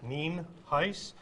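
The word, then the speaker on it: Nienhuis: for showing up i'm hernando county sheriff ninhais it's spelled n-i-e-n-h-u-i-s and it's pronounced neem heis we also have a couple individuals here that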